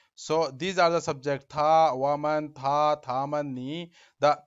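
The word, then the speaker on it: 他: So here you notice that he, she, it is pronounced in the same way, but Chinese character is different.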